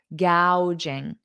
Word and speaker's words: gouging: that first of all notice the pronunciation g a ow ow gouging gouging so Jordan also wanted